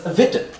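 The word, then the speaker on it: witte: Because the W is pronounced with a V sound.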